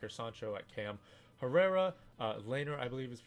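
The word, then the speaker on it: Laimer: with public angle and I believe it's lamer no laner at right-back now the reason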